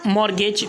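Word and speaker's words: mortgage: मतलब बंधक बनाए रखना तो इसे हम कहेंगे मॉर्टगेज यहां पर जो है तो मॉर्गेज मतलब 30 साइलेंट है इसके बाद का गाइस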